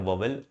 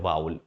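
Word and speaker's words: vowel: एक को कहा जाता है वोवेल, इसको, इसका जो प्रोनाउंसिएशन है चाहे ब्रिटिश को अमेरिकन, इसको बोलते हैं वाउल।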